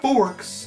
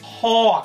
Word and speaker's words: Hawkz: It is not Forks. It's Hawkz. H-A-W-W-K. Hawkz. Please, if you're American, you know it's Hawkz. Does not rhyme with fork.